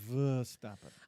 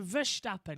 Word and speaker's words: Verstappen: It's actually Verstappen. I've got it right, because I always say it's not Max Verstappen, it's Verstappen. So Verstappen, As in, if you would spell it in English, it would be Veer.